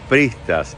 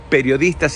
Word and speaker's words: periodistas: Dije pristas y prismo, y es periodistas y periodismo.